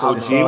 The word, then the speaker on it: Kojima: Thank you for pronouncing that, because I was not pronouncing their last name worth a fuck. It's Kojima.